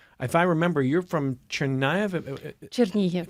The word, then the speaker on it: Chernihiv: If I remember, you're from Chernihiv? Chernihiv, sorry. Okay, Yes. thank you for the pronunciation here.